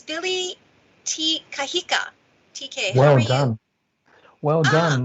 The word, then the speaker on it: Te Kahika: i think so let me okay it's billy t kahika tk well done well done that's really well